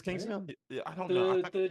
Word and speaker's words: Kingstown: mayor Kingstown I for I think got the name wrong the mayor Kingston yeah I think it is a mayor of Kingstown it's Kingstown yeah I don't know the Jeremy rener show